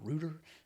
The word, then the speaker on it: router: moving closer to a router or Rooter as a you might pronounce it can help and you